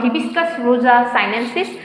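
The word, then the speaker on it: Hibiscus rosa-sinensis: জবা হিবিস্কাস রোজা সাইনেন্সিস।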